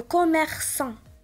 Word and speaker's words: commerçant: هنا عندنا A من مور سي وإلا كانت A من مور سي كنطقها ك. وهنا عندي commerçant نطقتها S.